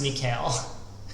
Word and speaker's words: Mikhail: You think it's pronounced Mikhail? Yes, it is pronounced Mikhail. You're absolutely right about that.